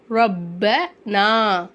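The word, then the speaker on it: رَبَّنَا: இந்த சத்து ஓகேவா அப்போ இதை எப்படி உச்சரிக்கணும்னா ரப் ரப்பு ப ரப்பனா ரப்பனா ஈ இன் இன் நன்னனா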